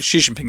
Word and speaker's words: Xi Jinping: Oh, in the same way that as a teenager, the Chinese boss, Xi Jinping, how do you pronounce his name properly? Am I getting that close enough? Xi Jinping, yes.